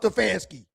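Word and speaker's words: Stefanski: Stefansky.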